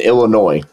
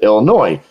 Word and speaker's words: Illinois: I tell them, listen, if you're dispoing a deal in Illinois, okay, I pronounce it Illinois. Some people pronounce it Illinois. I don't know why.